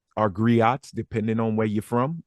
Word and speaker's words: griot: But I also see him as one of our griots, our griots, depending on where you're from. I'm from Louisiana. We don't pronounce the T.